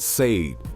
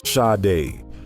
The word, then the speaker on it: Sade: People said Sade. They said it like it rhymed with made. It's Sade. 2 syllables, soft.